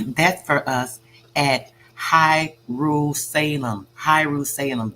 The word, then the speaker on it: Hierusalem: Hierusalem, this is Jerusalem, but they're pronouncing it Hierusalem.